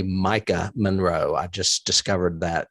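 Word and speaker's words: Maika: her name wrong um I've been switching the K and the I and calling her Makia but her name is really Micah Monroe I just discovered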